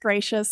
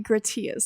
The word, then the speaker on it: Gratias: calm and my last name although it's pronounced gracious it looks like grits he is so it's gracious